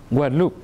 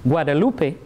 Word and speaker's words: Guadeloupe: makes all the difference what a lupe is Spanish and it stands for Isla Guadalupe which is not the same as what loop which is a languid loop which is French so the pronunciation as